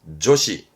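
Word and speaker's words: 助詞: 발음은 조시.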